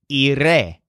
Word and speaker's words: iré: To say, I will go home, Joel says, iré a casa. So the stress syllable of the word iré is re, just like the word estaré, which means I will be.